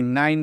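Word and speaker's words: nine: है ना? यह से आपको क्वाइन पढ़ना है। क्या? एन आई एन ई नाइन पढ़ना है।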